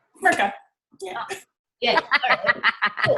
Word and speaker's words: Smrcka: If you pronounce it just like it's spelled. Smrcka. Smrcka.